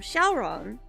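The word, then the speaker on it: Syaoran: But the anime is in Japanese, so they call him Shaolon.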